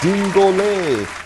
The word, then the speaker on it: dingole: It is dingole. And that is how dingole is spelled.